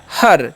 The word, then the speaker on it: her: अब नेक्स्ट हमारा HER, तो इसे हेयर पढ़ने का गलती नहीं करिएगा। देखिए एच का उच्चारण क्या करना है? ह करना है, ठीक है। और ER रहेगा ना, जब भी कहीं पर भी ध्यान दीजिएगा तो उसका उच्चारण अर हो जाता है, ठीक है। तो क्या हो जाएगा? हर, ठीक है।